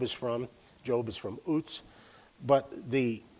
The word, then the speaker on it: Uz: The UZ portion of that looks the same in English as the UZ of Uts, where Job is from. Job is from Uts.